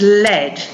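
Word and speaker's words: led: to lead the past tense of that is lead but the spelling is l-e-d our next sound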